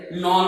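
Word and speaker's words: Knoll: 1940 में जो है, नॉल और रस्का, के इसमें साइलेंट है, नॉल और रस्का।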